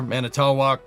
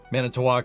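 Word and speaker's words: Manitowoc: Liber manatawwalk. Mantowwalk is how it's pronounced.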